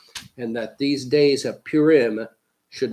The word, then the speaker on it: Purim: to pronounce it correctly in the Eastern tradition it's called Purim among Western westerners it's often called Paul rim Some central European communities even call it P Ram today if you say